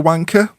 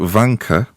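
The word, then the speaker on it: Wanka: it as rank cuz it's actually not e r it's actually a it's w a n k a the clue is Jack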